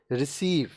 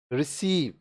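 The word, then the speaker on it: receive: है स और क सी के बाद ई आई वाई आए तो सी का उच्चारण स होगा देखिए कांसेप्ट समझिए अगर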